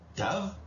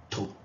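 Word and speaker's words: תו: Et après, vous avez le tav qui peut se prononcer donc de 2 manières aussi, tav, te ou to. Voilà, on touche plus les dents. Voilà, avec la langue.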